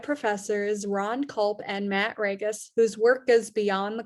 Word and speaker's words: Ragas: Some of you watching this are probably like, I always joke, Ragas rhymes with Vegas.